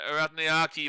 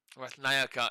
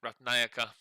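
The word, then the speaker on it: Ratnayake: And Ratnayaki will get to 8. And this is helping their run rate back up again. Ratnayaka is actually how you pronounce it. Ratnayaka.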